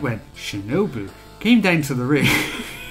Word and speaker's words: Shinobu: akira hokuto shinobu i just want to say shinobi so to say it right once on this